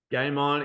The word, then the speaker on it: Gaimon: Game On is spelled GAIMON.